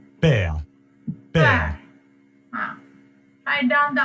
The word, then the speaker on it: père: The next one is père, pronunciation is pear. père, père, Pear.